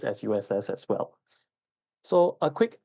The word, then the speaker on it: SUSS: fun fact um the short form is not pronounced sus or SS it's just pronounced s USS in short okay just like how Singapore Institute